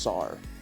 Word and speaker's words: czar: I'm pretty sure it's just Sar. I'm pretty sure it's Czar as well. I think the C is silent.